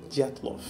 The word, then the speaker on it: Dyatlov: pronúncia certinha. Dyatlov.